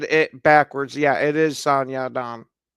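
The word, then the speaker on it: Song Yadong: Yeah, it is San Yaon.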